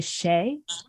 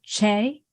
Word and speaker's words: Che: your name wrong because I I think I say Shea instead of Che yeah my entire family from the South say but it's chair yeah Che yeah yes all